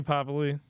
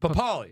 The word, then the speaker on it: Pappaly: But yeah, Pappaly. Thanks, dog. Did I say it right? No, but it's fine. Pappaly. How do I say it? Pappaly.